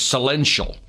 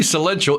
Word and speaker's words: Celential: a company called and i believe the pronunciation is celential now see that right